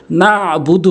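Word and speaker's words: نَعْبُدُ: উচ্চারণ করতে হবে অনেকেই বলে নাবুদু নাবুদু আইনের উচ্চারণ করেই না নাবুদু বলতে হবে নাবুদু আমার এই চ্যানেলে সই শুদ্ধ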